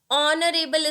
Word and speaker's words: honorable: नहीं, एच हमारा कॉन्सोनेंट है, लेकिन आप इसको जब प्रोनाउंस करोगे ऑनरेबल, तो किसका साउंड आ रहा है? ओ का साउंड आ रहा है ना।